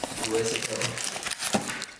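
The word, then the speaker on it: Wiseco: Well, if you pronounce it like Wisconsin, it should be like Wisco.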